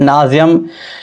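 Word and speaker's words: nauseam: एड नाजियम, नोजियम या नाजियम जैसे pronounce करें आप, नोजियम ही बेहतर लग रहा है।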